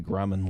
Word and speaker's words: Grumman: you can see the Grumman logo. Just say it like a Swedish death metal band.